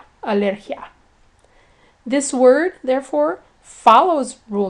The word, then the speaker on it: alergia: The ia in alergia is treated as one syllable, and it's pronounced alergia.